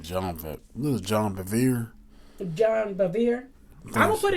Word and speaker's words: Bevere: Bevere?